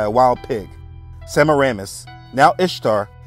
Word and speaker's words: Ishtar: The queen of Babylon, aka Madonna, aka Semiramis, became known as the moon goddess Ishtar, which can be pronounced as Easter.